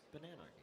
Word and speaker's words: Bananarchy: It's pretty easy. You're like, oh, is it banana? No, it's just Bananarchy. Yeah.